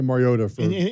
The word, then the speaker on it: Mariota: You always had the T in there? Yes. Mariota. Okay. Yes. I said it Mariota to his face, by the way.